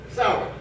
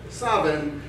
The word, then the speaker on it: Samhain: Yes, that's not how it's spelled, but the Celts needed to buy a vowel here and there, but it is pronounced for Ireland, it's pronounced Samhain. For Wales, it's pronounced Samhain. For Scotland, it's pronounced Sabin. And for America, it's pronounced pumpkin spice.